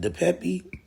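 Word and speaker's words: DePape: on the Paul Pelosi situation um and Mr the Pepe is how they pronounce his name so it says suspect and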